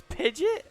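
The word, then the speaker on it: Pidgeot: there's the other one what the official pronunciation is the one that everyone uses as a joke it's pidget yeah the anime calls it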